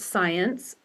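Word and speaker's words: Msiantz: there e do science my last name m s i a ntz pronounced science by the way at utah.edu so my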